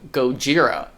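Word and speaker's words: ゴジラ: original film simply titled Gojira which is actually the Japanese pronunciation of the character's name it was filmed in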